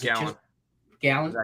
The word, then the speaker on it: Gallen: Zach Gallen.